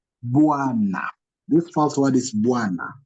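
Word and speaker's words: bwana: So bois, bois, na, not biwana. Don't say biwana or buwana. You say bois, na, bois.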